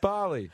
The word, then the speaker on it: Bali: Yeah, and it's pronounced Bali. Like, that's Bali.